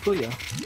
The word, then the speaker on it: Puyo Puyo: Yeah, it's pronounced Puyo.